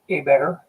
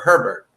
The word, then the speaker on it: Hébert: Hey, I'll tell you what, that's the correct way of saying it, and I'll definitely take that other than the other way it's pronounced often, which is Sherbert or Herbert. People say Herbert and then convert it to Sherbert.